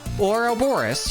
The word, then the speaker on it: Ouroboros: Ouroboros. Yeah. See, I'm saying it right. It just sounds weird.